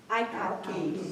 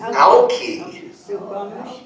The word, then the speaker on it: Alki: Alki. Alki. No. With a short I. We pronounce it Alki nowadays, but that is the correct Chinook jargon pronunciation.